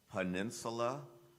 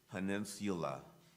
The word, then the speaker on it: peninsula: contestant number 81 Owen your word has two correct pronunciations peninsula peninsula peninsula p e u